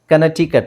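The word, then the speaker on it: Connecticut: ಇದೆ ಚಿಯಾವು ಚಿಯಾವು ಚಿಯಾವ ಕನಟಿಕಟ್ ಇಲ್ಲಿ C silent ಆಗಿರುತ್ತೆ ಓಕೆ ಇಂಡೈಟ್ ಇಲ್ಲೂ ಸಿ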